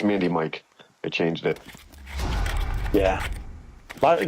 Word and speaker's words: Mandemikc: Well, they're like Mandmi Mand Mandik. I was like, no, it's like pandemic just man.